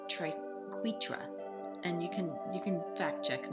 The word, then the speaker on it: triquetra: I in my head, when I read that, I always pronounce it triquetra, but apparently it's triquetra, and you can fact check me on that.